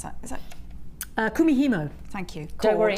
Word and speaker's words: Kumihimo: Kumihimo. Thank you. Don't worry, it's taken me months to get that one out. I was going the Camino, the Kamikaze, Kumihimo finally clicked.